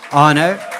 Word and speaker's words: Arno: Is it Arno or Avno? Arno? Please correct me when you're up here. Keep it going. You really started by getting my name Please correct me. You're pronouncing it right.